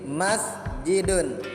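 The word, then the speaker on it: مَسْجِدٌ: Contohnya masjidun, jadi sin itu yang ada angka 0 di atasnya itu dibaca mati. Jadi bacanya begini, masjidun, masjidun.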